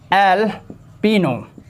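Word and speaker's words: jalapeño: देखिए मैरीवाना, एल्पिनो, फ्योर्ड में जे साइलेंट है क्योंकि जे लेटर का साउंड नहीं बोला जा रहा है।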